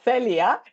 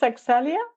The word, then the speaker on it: Accelya: But I guess it's Axelia. What is it like? The hack that I use is it's like accelerate.